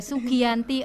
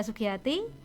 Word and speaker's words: Sugiyati: biasanya ditambahi dengan huruf R or N ya, Sugiyanti or Sugiyarti. But sebenarnya simple kan, Sugiyati ya, tapi masih banyak pengejaan yang salah ya. Nama saya Sugiyati.